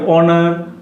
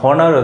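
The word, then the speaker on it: honour: যদি এইচ এর উচ্চারণটা অনার না হয়ে হনার হতো, তাহলে কিন্তু আমরা অবশ্যই সেখানে কি বসাতাম, এ বসাতাম। অনেস্টের উচ্চারণ যদি অনেস্ট না হয়ে হনেস্ট হতো, তাহলে কিন্তু আমরা এ বসাতাম।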